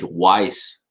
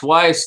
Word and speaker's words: Weiss: you for saying that i pronounced lake weiss correctly twice weiss let me uh i